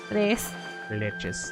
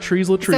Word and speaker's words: tres leches: Tres Tres leches. leches. Tres leches. Tres leches. Not tres leches. It's like the 3 milk cake. Not trees la trees.